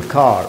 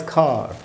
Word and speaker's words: car: ख़त्म हो रहा हो, उस आर का उच्चारण ब्रिटिश इंग्लिश में नहीं होता, अमेरिकन में होता है.